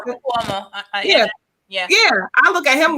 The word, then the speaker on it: Cuomo: Kumo. Is that his name? Is that how you pronounce it? Cuomo.